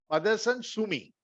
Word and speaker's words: Motherson Sumi: Motherson Sumi.